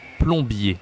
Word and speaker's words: plombier: de Nintendo, ça s'écrit plombier, d'accord? Son métier, son job, sa profession, c'est plombier. Du coup, on dit Mario le plombier. Plombier, d'accord? Je n'écris pas ON ici, j'écris OM.